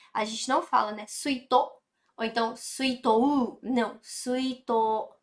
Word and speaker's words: 水筒: Presta atenção aqui também na pronúncia do suito. Tá vendo? Olha só. Suito. Esse to, tá vendo que ele tá prolongado? Esse u aqui no final, que ele é um prolongamento, né?